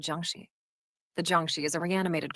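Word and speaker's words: jiangshi: about the the Jung you said Jung I apologize for mispronouncing it earlier it's actually called Juni the Juni is a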